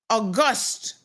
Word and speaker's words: august: He meant August, emphasis on the last syllable.